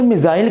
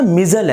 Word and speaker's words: missile: इसको उर्दू में मिज़ाइल कहते हैं, लेकिन इंग्लिश में इसकी प्रोनाउंसिएशन ना मिज़ल है। तो आपने इससे परेशान नहीं होना, ठीक है। प्रोनाउंसिएशन इसकी असल मिज़ल है, लेकिन हम उसको उर्दू में मिज़ाइल भी बोल सकते हैं।